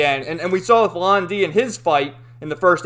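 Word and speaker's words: Lan Di: Like the one guy's calling Londi Landy. It's like, no, it's Londi.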